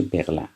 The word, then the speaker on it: Berlin: à Berlin یعنی برلین، تلفظش تو فرانسه میشه برلین.